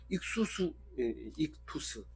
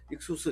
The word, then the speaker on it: 익투스: 익투스 이렇게 발음하는데 익투스가 더 좋을 것 같아요. 맞는 것 같아요. 그래서 익투스, 인터넷 쳐도 익투스가 제일 많이 나옵니다. 익수스 해도 나오긴 나옵니다만은 그래서 익투스라 이러면은 이